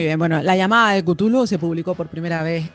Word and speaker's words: Cthulhu: de pronunciar su nombre Porque la comunidad lectora no se pone muy de acuerdo a este respecto algunos lo llaman cutulu otros cazulu otros Tulum nosotros lo vamos a llamar cutulo porque es la forma